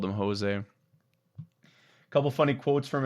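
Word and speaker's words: José: He's like, everyone calls me Jose. That's Spanish. He's Portuguese, so it's Jose, which I thought was so funny. Is for years I've called him Jose.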